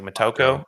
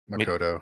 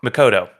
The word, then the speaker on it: Makoto: I don't know how to pronounce his name. It's like Mokco. What? Uh Makoto. Makoto.